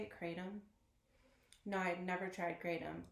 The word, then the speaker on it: kratom: or six I'm not sure did you try kratom that's how you say it kratom no I'd never tried kratom I was gonna